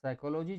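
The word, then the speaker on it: psychology: दोस्तों, देखिए, आप साइकोलॉजी जो है अपने आप में ऐसा शब्द है जिसमें पी जो है साइलेंट होता है, जिसका पहला अक्षर साइलेंट होता है।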